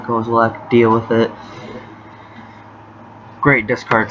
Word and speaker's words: Kozilek: Inquisition, Kozilek, or Kozilek, however you pronounce it. I pronounce it Kozilek.